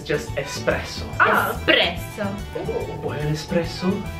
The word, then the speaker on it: espresso: is espresso as I've also heard it being pronounced espresso espresso yeah yeah espresso have an X it's just espresso espresso espresso s espresso espresso yeah okay the